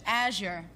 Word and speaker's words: Azure: Azure. Blue. Uh-huh. There you Did I go. pronounce it right this time? There you got it. That's it. Well, you said the last time Asia.